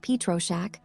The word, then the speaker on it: Pietroschek: Copyright Pietroschek, pronounced Pietroschek, all rights reserved.